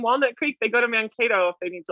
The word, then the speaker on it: Mankato: Why are we thinking Little House on the Prairie when you hear Mankato? And am I saying it right or wrong? Mankato. So Mankato.